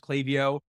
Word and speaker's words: Klaviyo: So they are I don't know if it's called Clay. I've never heard Clay before. I've heard Klaviyo and other things, but it's definitely pronounced Klaviyo. Their VP of customer success corrected me on that.